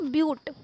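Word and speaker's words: but: 4 carbon atom है तो उसके यूज़ करेंगे ब्यूट, ठीक है। इसे बट लिखा हुआ है यहाँ पे, बट इसे हम ब्यूट प्रोनाउंस करते हैं, ठीक है, क्योंकि ब्यूटेन वगैरह आप आगे पढ़ेंगे तो इसे ब्यूट प्रोनाउंस करते हैं।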